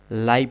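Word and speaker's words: live: देखिए एडजेक्टिव की तरह यूज़ कैसे होगा? जैसे लाइव एनिमल जीवित जंतु। जीवित जंतु। जंतु कैसा है? जीवित है तो जीवित आपका यानी कि लाइव एनिमल के बारे में बता रहा है विशेषता बता रहा है तो लाइव आपका वहां पे एडजेक्टिव हो जाएगा तो वहां पे हम लाइव पढ़ेंगे जब उसे वर्ब के रूप में पढ़ेंगे यहां लिव पढ़ेंगे लीव्स ठीक है आगे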